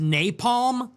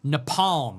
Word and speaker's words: napalm: She pronounced napalm nepalm or something like that.